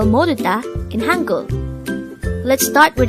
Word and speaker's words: 모르다: word number 89 this is pronounced as a three-syllable word the first syllable is